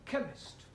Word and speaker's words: chemist: Chemist does not begin with a K. It sounds like it begins with K, C-H. but that is making it chemist. No, the CH is pronounced K. Now I'm understanding. C-H is K.